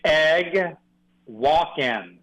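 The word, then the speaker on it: Eguakun: You were butchering it, and I've butchered it for several years now. What should it be? It's Egg Walk-In. Like an egg walk-in. Oh, like egg walking, almost like Christopher Walken. it is. It's like egg walking.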